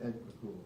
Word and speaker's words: Picula: Former Solicitor Picula and current Solicitor Judge Payne, the Springfield City Councilor, or Piccola, was it Picula? Piccola? And Piccola. Piccola, I said it right.